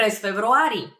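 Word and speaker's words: февруари: I would answer PR februari februari it's a very similar to f February February uh just a little bit of a trick over there in pronunciation but that means in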